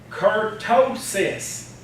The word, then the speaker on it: kurtosis: what now but from kurtosis kurtosis three syllables kurtosis to our team